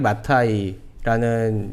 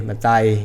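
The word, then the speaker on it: Maathai: 예, 근데 한국에서는 왕가리 마타이 그러는데 현지에서는 왕가리 마타이. 맞다. 예, 마타이 이렇게 발음해야 또 알아듣습니다. 마타이 그러니까 모르더라고요.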